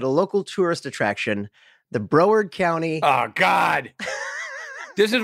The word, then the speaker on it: Broward: or in Broward Broward oh Broward Broward County that's how you say that Broward I apologize America it's spelled Broward it's couple Bros and broard you know what I